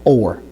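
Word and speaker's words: אור: So or is spelled with an aleph of vav with a holam. So the holam gives an O type of sound for the aleph, which is important because the aleph is naturally a silent letter. So without that diacritic there, you wouldn't know what kind of sound that the aleph would make.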